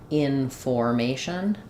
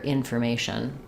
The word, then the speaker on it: information: like in information um we don't want that to sound like information but rather information the or letters o r are the unstressed sound information uh so comfortable